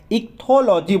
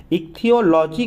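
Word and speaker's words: ichthyology: इक्थोलॉजी बोलते हैं इसको, CH का मतलब उसको अलग मत पढ़ लीजिएगा, इसकी प्रोनाउंसिएशन अलग होती हैं थोड़ी सी, है ना। तो इक्थोलॉजी अगर हम इसको हिंदी में लिखें तो मैं एक बार आपको लिख के भी दिखा देता हूँ, इक्थियोलॉजी करके बोलते हैं इसको दोस्तों, ये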